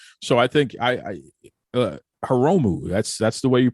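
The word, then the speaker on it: Hiromu: to do that so I think I uh haromu that's that's the way you pronounce his name right yeah haromu okay I like haromu I think haromu is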